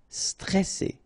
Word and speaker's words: stressé: So C, alright, and then here you get this E before the double S, so it will open the pronunciation of the E, stressé, stressé. Stressant, okay, final T not pronounced, and then A-N, stressant.